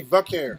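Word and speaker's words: Vaquer: Yeah, Stephanie Valcare. Valcare. Yeah, drop the L. Just drop the L. Valcare.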